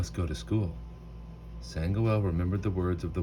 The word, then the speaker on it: Sangoel: Hey, Sango. My name is Sangoel, he called softly as the boy ran off.